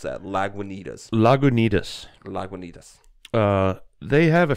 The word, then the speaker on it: Lagunitas: How do you pronounce that? Lagunitas.